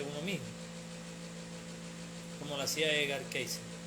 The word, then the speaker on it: Edgar Cayce: bien sea de uno mismo, como lo hacía Edgar Cayce, o para los que pronuncia bien en inglés, Edgar Cayce.